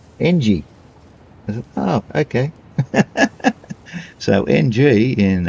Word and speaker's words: Ng: a G and I said how do you pronounce an N and a G. He says how it sounds how it sounds ng.